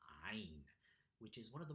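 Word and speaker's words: ʿAyn: Ain. That's what the letter is called. Constrict the middle of your throat and pull back your tongue backwards, creating a voiced guttural sound.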